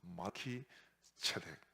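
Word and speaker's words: מלכי־צדק: 그래서 이 멜기세덱, 멜렉과 체데크라는 말이 합친 말인데 이 합쳐지면서 멜렉이라는 말 발음이 말키라는 말로 바뀝니다. 그래서 말키 체덱.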